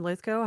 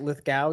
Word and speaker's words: Lithgow: Because you guys have all said John Lithgow. Have I been mispronouncing his name my entire life? Like Lithgow, you've been saying?